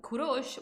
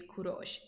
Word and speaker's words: Kurosh: for them to pronounce um kurosh was translated into kiros and kiros in greek and from that the right to cyros or ethereum hello alexander but his original name is kurosh and i really like